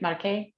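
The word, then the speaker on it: Marche: know a lot about market am i saying it right market yes perfect pronunciation normally the u.s i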